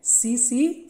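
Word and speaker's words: tsetse: का नाम क्या है सीसी फ्लाई ओके इसको अ टी साइलेंट है सो सी सी फ्लाई सी सी फ्लाई ल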